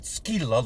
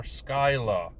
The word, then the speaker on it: Skylla: malevolence skyla and yes that is how it's pronounced not skeela like the monster skyla it actually says so in wild beyond the